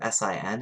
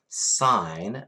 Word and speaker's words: sine: But the other two, SIN and COS, well, they actually stand for sine, so never ever sin, but they stand for sine, not sin, even though it's spelled sin, sine.